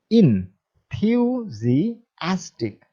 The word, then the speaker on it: enthusiastic: ইনথিউজিয়াস্টিক শব্দটির উচ্চারণ আবারও খেয়াল করুন। ইনথিউজিয়াস্টিক, বেশি স্ট্রেস হচ্ছে অ্যাস্টিক।